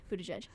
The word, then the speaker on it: Buttigieg: I think if you already like Pete Buttigieg, then Buttigieg, wow, love that I mispronounced that. Buttigieg.